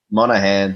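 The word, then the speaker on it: Monaghan: say his name Morgan Monahan Monahan yeah that makes more sense because the way it's spelled I suppose um he is in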